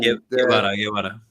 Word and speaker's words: Guevara: Guevara, like Che Guevara.